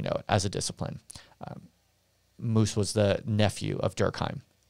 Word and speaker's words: Mauss: referring to one is the the anthropologist marcel moos that's m-a-u-s-s pronounced moose he was essentially the nephew of the even